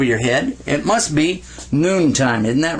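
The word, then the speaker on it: نون: the points like that can you say noon noon makes the sound of nah all right now the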